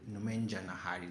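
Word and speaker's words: Nomenjanahary: Nomenja Nahari. That's how the commentator was pronouncing it.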